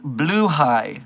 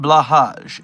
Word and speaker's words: Blåhaj: It's pronounced Bluhai, and it's not Blahaj. It's pronounced Bluhai.